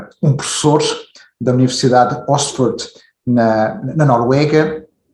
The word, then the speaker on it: Østfold: How does it pronounced the university? Østfold University College.